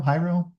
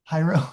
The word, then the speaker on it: Hiero: Hiro. Hiro. Hiro. Sorry. Yeah, like hieroglyphic.